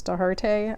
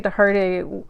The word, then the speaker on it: Dochartaigh: I'm pronouncing the name the way I've heard her pronounce it online. I would normally say Dougherty or Doherty, but I think she says Dochartaigh. I apologize, Kerri, if I'm saying that wrong.